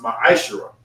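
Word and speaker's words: מעשר: It is pronounced ma'ashera.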